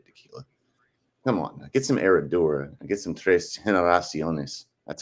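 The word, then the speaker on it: Herradura: such an over tequila come on get some eradura get some that's how you actually pronounce it it's not TR Generations all right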